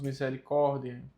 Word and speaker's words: misericordiae: Mais uma vez, o A próximo do E. A pronúncia do A fica muda, então nós só dizemos misericórdia.